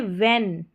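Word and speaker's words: when: What next देखें व्हेन व्हेन और वेयर यहां पर एच साइलेंट है।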